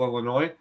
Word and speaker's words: Illinois: running an 82-person tournament that's fair you know illinois well enough to pronounce it illinois and not illinois you know the s is